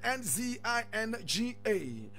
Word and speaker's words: Nzinga: is spelled N-Z-N-G-A. That's, I take it again, Nzinga.